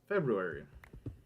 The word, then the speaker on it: February: song I had was February. And I do say February with the R now. Just, it helps me remember how to spell it.